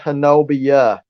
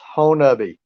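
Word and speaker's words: Honobia: It's not Hanobia, it's Honabi. It's not pronounced how it's spelled.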